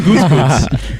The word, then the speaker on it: Gutekunst: Brian Gutekunst is an idiot with an idiot last name. Doesn't make sense. It's spelled.